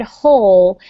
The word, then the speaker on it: whole: Okay, so remember with the word whole, the W is silent. So it's plant a tree for make it meaningful for the whole family. Whole family. Whole family. The W is completely silent.